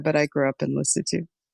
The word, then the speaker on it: Lesotho: I was actually born in Sri Lanka, but I grew up in Lesotho. Is that the correct pronunciation, Lesotho? Yes.